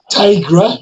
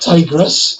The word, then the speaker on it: Tigra: 3, Tigra, not Tigress. A bit of a difference, you know.